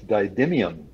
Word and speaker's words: didymium: It's Didymium.